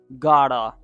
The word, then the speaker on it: gotta: Okay, and here the T comes in between the two vowel sounds and it sounds like duh in American accent according to some steps of pronunciation related to the American standard accent.